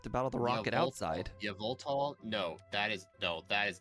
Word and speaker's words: Yveltal: The Yveltal. However you pronounce it. I like to pronounce it Yveltal because Y sounds a lot like an E most of the time, like it's a wannabe vowel.